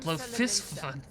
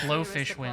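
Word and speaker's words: Bloefhiswyn: Oh, that's how you pronounce that, Blofisvin. I come before you to I always offer pronounce it my Blowfishwin.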